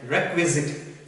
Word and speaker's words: requisite: it is not dick wizard we have to pronounce it like requisite requisite the spending are he qu i exciting